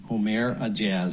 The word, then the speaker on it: Ourmair Aejaz: a a a jazz om a jazz I believe is the pronunciation placing hidden cameras in